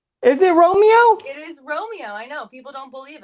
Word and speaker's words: Romeo: ex co-worker of mine, hmm comedian today, Romero. What up, Am I saying it right? Am I saying it right? Romeo? Romeo. Is it Romeo? It is Romeo.